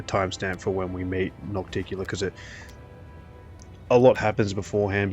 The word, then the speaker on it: Nocticula: pretty important episode because we meet not Nocturnal. I've been saying her name wrong the whole time. Well, I've got it written here. Noc- Nocticula is her name.